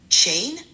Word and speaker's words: chain: Dans chain, veille à ce que le ch soit bien doux, comme un TCH.